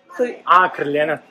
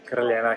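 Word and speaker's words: Crljenak: Krljenak. Okay. Krljenak.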